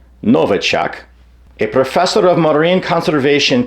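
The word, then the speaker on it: Nowacek: patterns the article cited Douglas NOK or perhaps properly pronounced Novak a professor of mine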